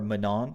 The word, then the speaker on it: Manon: we just talked about Manning right last video or Manon sorry sorry for my pronunciation uh we just